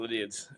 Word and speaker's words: Lydiard: Lydiard. Tongue twister. Yeah, Lydiard.